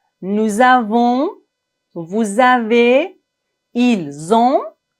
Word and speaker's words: ils ont: Ici, on doit faire la liaison entre le S et la première lettre du verbe qui est une voyelle. Nous avons, vous avez, ils ont, elles ont. Finalement, ne prononcez pas le N complètement. Nous avons, ils ont, elles ont. On ne doit pas dire nous avons, ils ont, elles ont. Non.